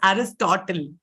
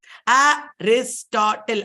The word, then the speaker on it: Aristotle: Okay, this man's name has 3 syllables. That is Aristotle. Aristotle. Are, 4 syllables. 3 nahi, 4.